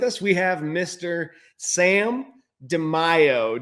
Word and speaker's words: DeMaio: Sam DeMaio. Did I pronounce that right, Sam? Close enough as DeMaio. DeMaio, you say tomato, I say tomato.